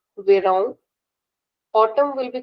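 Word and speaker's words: verão: Summer is called vang with a nasal sound vang.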